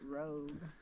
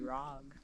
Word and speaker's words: Rag: How would you How do you pronounce this, sweetie? I would say rag. Rag. Yeah, but I have like a plane, you know. So, rag. It's not rogue.